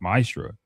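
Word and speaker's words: מעשר: It means 10th in Hebrew and is pronounced ma'asra.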